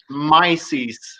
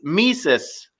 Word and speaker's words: Mises: there are more mispronunciations it's not myself it's mises ludwig von mises that's the worst one